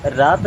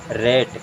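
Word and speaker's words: rat: then R ए टी इसे रात नहीं पढ़ते हैं इसे क्या पढ़ते हैं रेट यानी कि दो लेटर्स के बीच में जब ए आएगा ना तो उसे ए की तरह उच्चारण करना है इसे पढ़ेंगे रेट एंड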